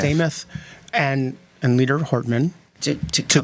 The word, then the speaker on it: Demuth: I agree, and I take a lot of comfort in the fact that Leader Demuth and Leader Hortman are speaking frequently.